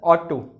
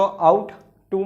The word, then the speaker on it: ought to: तो बच्चे जो सिक्स्थ मॉडल है हमारा दैट इज ऑट टू। अब इसको आउट टू मत बोलना, दैट इज ऑट टू, ये प्रोनाउंसिएशन है इसका।